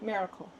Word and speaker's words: Maricle: And is it pronounced Marle or Miracle? How do you My name is Miracle. I just say Miracle.